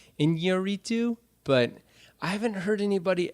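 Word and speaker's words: Iñárritu: the new Alejandro Gonzalez Inarritu movie. Inarritu, that's... Birdman. I think it might have... Inarritu. They have a tilde over the first in, I think, so it might be Inarritu, but I haven't heard anybody actually say his name.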